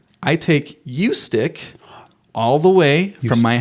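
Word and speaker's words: Ustick: tell you it's not ustic it's not ustic it's not US stick it's a hard U long u you stick you stick you stick so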